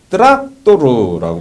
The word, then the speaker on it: 트락토르: 마지막으로 상징적인 내용이 참 북한에서는 트랙터라고 발음 않고 트락토르라고 발음하는데 이렇게 마지막 줄이 돼 있습니다.